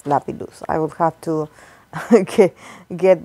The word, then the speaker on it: Lapillus: I always get it wrong so yes it's Lapidus I will have to get used to that the pronunciation so yes I I did an individual